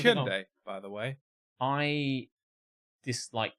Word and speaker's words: Hyundai: It's pronounced Hyundai, I don't think they say that in the advert. They do in many of the others. Oh, right. Well, I mean, it doesn't really matter. It's pronounced Hyundai, by the way.